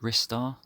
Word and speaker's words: Ristar: there's a few people out there that pronounce it ristar I'd never really thought about it but I guess there's different ways to pronounce lots of different words I'm just going to stick with Rye star a pretty late Mega